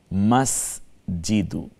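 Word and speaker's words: مسجد: মাখরাজটা ঠিক করে নিতে হবে, আর কোনো তাহলে মসজিদ না, শব্দটা মাসজিদ। আমরা আরবি নামবাচক বিশেষ্যগুলোকে আমরা কোরআনের ভাষা যেভাবে ব্যবহার করা হয়েছে চেষ্টা করব ওইভাবেই উচ্চারণ করতে, মাস জিদু।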